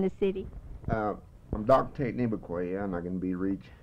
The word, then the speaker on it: Nevaquaya: Okay, Nevaquaya is N-E-V-A-Q-U-A-Y-A. In Comanche, the way to pronounce it was Nevaquaya.